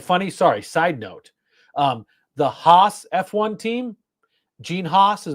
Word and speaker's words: Haas: I mean, I'm a huge F1 fan, so I get all sorts of British pronunciations. I also find it funny. Sorry, side note. The Haas F1 team, Gene Haas is American.